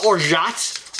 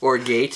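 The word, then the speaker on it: orgeat: Uh, 3/4 an ounce of orot, also known as uh almonder, also known as it's like lime sex. Yeah. Orate if you want to use the mispronunciation of it.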